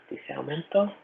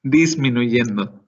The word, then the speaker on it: disminuyendo: Which, if I'm remembering correctly, is disaumento? I think I'm wrong. Close. Disminuyendo. I'll type it in this. There's too many syllables in that. Disminuyendo. 5 syllables.